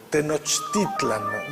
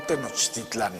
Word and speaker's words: Tenochtitlan: El acento estaba en la segunda sílaba, Mexico Tenochtitlan, no Tenochtitlan. Esa es la pronunciación prehispánica que después fue cambiando.